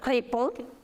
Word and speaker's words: réponds: Now, je réponds, the pronunciation. Je réponds, tu réponds. You do not pronounce this D and S, no.